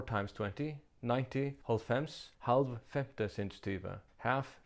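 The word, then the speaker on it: hálvfems: 90, holfems, halv femte sinds tyve, half fifth time 20.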